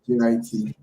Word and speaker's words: JIT: Most hackers just JIT, pronounced like it rhymes with fit, or JIT.